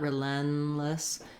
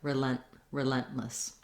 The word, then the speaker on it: relentless: Just remember, you want to just keep this N sound very short, not relentless. Don't let it continue, and not relentless, but relentless.